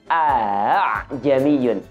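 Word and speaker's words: أَأَعْجَمِيٌّ: Cara sederhana, kita menemukan kata a'jamiyun di ayat ini, kita baca dengan bunyi a'jamiyun.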